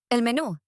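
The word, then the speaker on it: menú: That one's pretty easy for English speakers because it sounds almost the same. But notice the accent is on the last syllable. Me, not menu. See, Elmenu.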